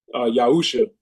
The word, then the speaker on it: Yahusha: Um, we're just going back to the ancient way um of the pronunciation of of the father's name, which is Yahweh instead of God and then um Yahusha instead of Jesus.